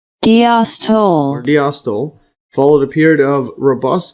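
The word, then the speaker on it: diastole: See the pronunciation diostyl followed a period of robust contraction and pumping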